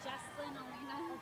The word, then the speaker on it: Jesslyn Alina: It's actually Jesslyn Alina.